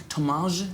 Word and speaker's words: Thomaz: Is it Thomaz? Am I saying it right? Thomaz, because it's got a Z at the end there.